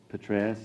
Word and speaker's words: Petraeus: In terms of Petraeus, that's how you pronounce the name.